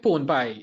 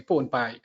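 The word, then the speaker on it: P4wnP1: P4WNPI, Pwn Pi, yeah. Not like Trinidadian pone that you usually cook and bake, but it's pronounced the same way, Pwn Pi.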